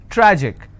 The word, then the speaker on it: tragic: it's pronounced at panic tragic tragic I will stress on track Magic I will stress